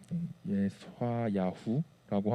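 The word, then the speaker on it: יְשַׁעְיָהוּ: 자, 이사야의 이름을 히브리어로 발음이 좀 어려워요. 예스화야후라고 하는데 이것은 여호와는 구원이시다라는 뜻이에요.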